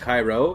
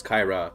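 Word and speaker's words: Kayra: Your cat was named Cairo. That'd be if she was a guy, but she's a girl, so it's Kaira. But it's spelled K A Y R A.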